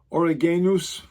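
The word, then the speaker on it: Origenes: Origenus would be how his name is pronounced in the Greek.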